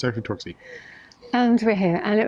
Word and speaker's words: Torksey: should I not talk ski and I kept pronouncing it torque say today talk say because that's what I've heard somebody say yeah I'm sorry spelling of torque safe but it's active torque see and over here and it was actually the